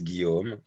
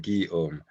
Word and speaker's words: Guillaume: So my name is Guillaume. It's really easy to pronounce, actually. Two sound, Guillaume.